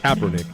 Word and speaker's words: Kaepernick: it what I backl Kaepernick Kaepernick come on Kaepernick Kaepernick that's not too bad it's not copper but it's Kaepernick cernick this is the